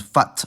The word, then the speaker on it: fatt: This is shown in the difference between fat, with a long vowel, and fatt, with a short vowel.